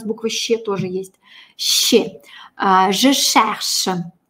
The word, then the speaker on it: je cherche: «Je cherche». Ну, среднее между «ше» и «ще» такое очень шипящее. «Je», трубочка, «je cherche».